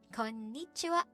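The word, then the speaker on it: こんにちは: Konnichiwa. Okay, so why don't you try it? Konnichiwa. It's not konnichiwa, it's konnichiwa. You really have to hit the sound in there, the syllable before ni.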